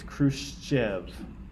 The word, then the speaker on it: Khrushchev: It's one letter, and so if you say like fresh cheese, you get the same sound. So it's Khrushchev.